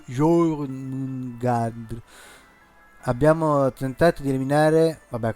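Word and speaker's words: Jörmungandr: La O con gli out sopra si legge Jormungandr.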